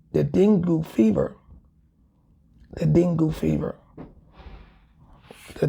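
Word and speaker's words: dengue: from mosquito born illnesses like the D the dingu fever the dingu fever the dingo fever is there any information on the dingo fever let's see the Dingle fever it's pronounced dangi dangi d a n g e it's pronounced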